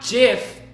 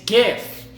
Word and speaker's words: GIF: were wrong okay but no it's not jiff its gift a few kidding really